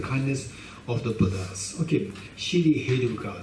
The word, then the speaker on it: Shri Heruka: Okay, Shri Heruka. So it has how many parts there? Shri He Ru Ka. There are the 4 sections there, four syllables there.